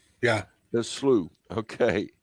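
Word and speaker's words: Sluagh: to talk about and tim how do we pronounce this slew so slew yeah the slew okay like demons the slu are scary creatures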